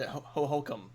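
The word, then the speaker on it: Hohokum: And Ho-Ho-Cum, I believe was the title. Was the correct pronunciation of that.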